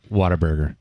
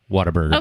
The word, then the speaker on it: Whataburger: word what Whataburger its water burger it's what a burger the word what it is but is pronounced water burger but also he's like